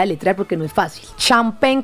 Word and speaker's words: Champen: Champagne, ¿cómo suena? Champagne. Pero lo van a escribir con C-H-A-M-P-E-N.